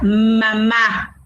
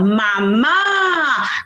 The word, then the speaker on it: mamá: palabra mamá ma ma donde lleva el acento la mayor fuerza de voz mamá la llamamos porque la profesora me dijo que debo llamar a la palabra para conseguir la mayor fuerza de voz entonces yo la voy a conseguir guau mamá última todo tiene reglas porque la